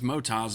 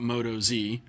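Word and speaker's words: Motoz: uh pronounce which I know now is Motas, not Moto Z, because according to Aaron, it's Australia, hence the Oz mot.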